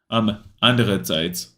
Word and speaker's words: andererseits: Andererseits. Oh, it's andererseits. Oh, wait, how am I saying it wrong?